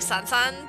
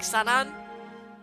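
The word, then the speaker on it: Sannan: The way that they pronounce it is like Sansan, but I know it's not that, but it's like Sanan.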